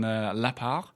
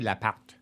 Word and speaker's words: L'Appart: out congratulations congratulations on laar oh how do you pronounce it um it's actually laart you pronounce the T because it's a short